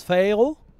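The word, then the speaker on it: pharaoh: des phérons sachant que je rappelle que Pharaon en anglais ça se prononce phéo donc les phérons des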